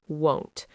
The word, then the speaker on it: won't: tricky for learners because the sound changes quite a bit from will to won't. It sounds like the word want sometimes, but the vowel is different. Won't has a long o sound like go, right?